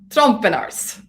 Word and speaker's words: Trompenaars: here with steve and fonz trump and ours trump and ours well done yes we're just having discussion about pronunciations of our crazy european names i'm valchak